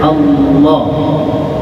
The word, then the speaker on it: Allah: tapi kemudian kan ee dalam ilmu qiraat ada cara baca lam aljalalah ya lam yang masuk pada kalimat ilah Allah itu ditebalkan maka bacanya menjadi Allah Allah jadi asalnya alilah Iya